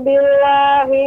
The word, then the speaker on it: billah: A'udzu billahi minasyaitonir rajim. Ibu, pengucapan billah lebih ditasydidkan lagi. A'udzu billah, billah. Tidak terlalu pendek, billah, A'udzubillah ditekan.